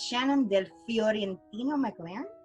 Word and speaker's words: Shannon Del Fiorentino-McLeran: And let me see if I can actually pronounce her name correctly. It's Miss Shannon Del Fiorentino-McLeran.